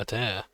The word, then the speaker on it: Adair: I've always pronounced his name as like Adair, or Ida, but Adair.